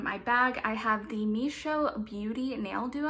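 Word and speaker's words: Mischo: For the third product in my bag, I have the Misho Beauty Nail Duo. I believe that's how it's pronounced. It's spelled M-I-S-C-H-O, and this retails for $37.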